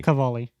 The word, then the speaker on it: Cavalli: Cavalli.